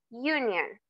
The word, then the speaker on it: union: European, unit, union, ¿ok? Aunque comiencen con una vocal, el sonido o la pronunciación es con una consonante.